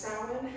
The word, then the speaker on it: Samhain: October 31st to payments it is known as salad it is spelled Samhain as you can see it comes